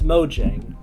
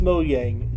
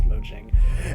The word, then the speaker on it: Mojang: fact that Mo Yang hasn't why do you pronounce it it's Mojang for those who are like oh it's Mo Yang it's it's Mojang oh that's how it's pronounced